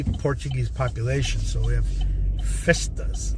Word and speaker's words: festa: population so we have festas like a in Spanish you say Fiesta but the Portuguese pronounce it Festa there's lots of Portuguese